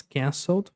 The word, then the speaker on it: cancelled: Cancelled. Canceled. Cancelled, né? Termina com som de D.